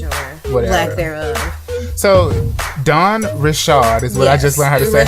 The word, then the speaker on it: Dawn Richard: So Dawn Richard is what I just learned how to say her name. Yes. Because I thought it was Richards.